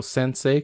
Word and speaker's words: sensei: word means high school so sensei could be thought of with four syllables that word meaning teacher